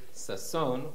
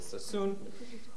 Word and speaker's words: Sassoon: understand, there is no, in standard Arabic or Baghdadi Arabic, there is no O vowel. Perhaps Professor Frankel, you will correct me. There's generally no O. It's pronounced as U. So Sheikh Sasson, we would say Sheikh